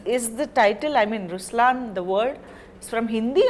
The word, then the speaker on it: Ruslaan: so even in raslan when you say raslan also means the lion it's the attitude of I am but the right pronunciation is Ruslan okay there is so